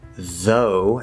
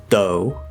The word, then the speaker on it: though: do not i repeat do not replace the th sounds of any kind with a normal t or d this sounds very uneducated and or informal for example don't pronounce though as do